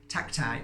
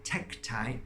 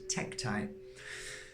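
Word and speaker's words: tektite: deliberately wearing it there because the energy of tacti or techtite as it's um pronounced I always say tacti but it's techtite stomach wise is it absorbing the energy of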